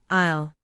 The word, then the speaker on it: aisle: Word number one, aisle. This is the walking space between rows of seats or shelves. In a supermarket, you walk down the aisle. Note the pronunciation. The s is silent.